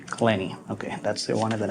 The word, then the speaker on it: Clenney: And your last name, how do you pronounce it? Clenny. Clenny.